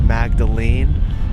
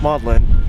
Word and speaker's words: Magdalene: list for today maudlin I always thought it was pronounced Magdalene but no it's pronounced maudlin it just eliminated half